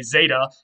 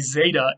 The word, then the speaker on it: zeta: a z sound, and the zeta in ancient Greek would have actually been more of a z sound. It wasn't just a Z like today. It was more like a DZ sound.